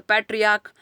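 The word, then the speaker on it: patriarch: तो पैट्रियार्क तो इसमें सी एच से लास्ट कर रहा है लेकिन इसका प्रोनाउंसिएशन क्या है, क, तो इसका प्लूरल बनेगा पैट्रियार्क्स।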